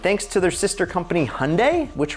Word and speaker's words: Hyundai: to their sister company hyundai which rhymes with sunday so yeah say it with me hyundai sunday they have a 5 liter v8 to play with and it makes 420 horsepower 420.